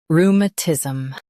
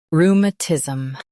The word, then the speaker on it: rheumatism: Both US and UK have the same pronunciation of this word, rheumatism. Now read the syllables shown on the screen naturally. Rheum, tis, rheumatism. Stress rheum and keep tis soft.